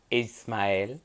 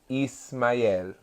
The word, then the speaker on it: Ismael: Ishmael Ishmael is with no h it's technically pronounced Ismail Ismail Ismail Isaac Ishmael yeah so that is the